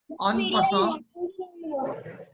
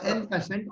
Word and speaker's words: en passant: This is the French word. Its pronunciation is little different. En passant, we pronounce it as en passant.